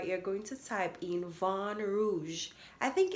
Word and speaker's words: Vin Rouge: After you click on the search bar, you're going to type in Vin Rouge. I think it's French. It's pronounced Vin, but it's spelled VINROUGE, Vin Rouge.